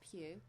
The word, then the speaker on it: Pugh: So the swimmer who can change his own body temperature is called Lewis Pugh. P-U-G-H, so that's Pugh, let's rhyme with Hugh.